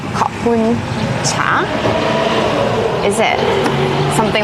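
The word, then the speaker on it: ขอบคุณเจ้า: But apparently in the north, the pronunciation is a little different, and you say Khopun Cha.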